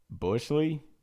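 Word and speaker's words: Buechele: B U E C H E L E Bushley. Sure, we'll go with Bushley.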